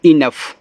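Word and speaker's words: enough: ई एन ओ यू जी एच, इसको पढ़ते हैं इनफ, तो ई ना और फ, ये आपका इनफ हो गया।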